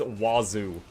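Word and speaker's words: oiseau: Yeah, it's spelled O I S E A U. Oh, is it six letters? And yeah, and it's wazu and it's bird.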